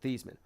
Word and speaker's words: Theismann: Like, do you remember the thing about Joe Theismann and his name spelled like it sounds like Theismann, but Theismann.